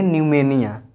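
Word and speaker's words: pneumonia: ठीक है, यहाँ पर भी देखिए पी के बाद है एन तो हम बोलेंगे न्यूमेनिया।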